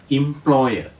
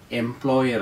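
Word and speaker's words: employer: ഒ വൈ ഇ ആർ ഉച്ചാരണം ഇംപ്ലോയർ എംപ്ലോയർ എന്നല്ല അടുത്ത വാക്ക് ഇ എം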